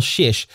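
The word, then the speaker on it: Czyz: And the family name, Shish, is spelled C-Z-Y-Z.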